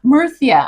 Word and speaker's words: Murcia: Oh, I like the lisp, Murcia. And I was like, what? That's how you say it. But they'd say it like Murcia.